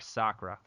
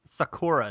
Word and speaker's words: Sakura: And we have Sakura, or. Hi, and thank you for saying it right. I know. Well, some people say Sakura, don't they? Yes.